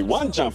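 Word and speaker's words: わんちゃん: you remember these two check out the intonation when you say one CH for dogs the intonation goes down because dogs sit down one CH meanwhile when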